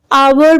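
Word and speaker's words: hour: आवर में H silent.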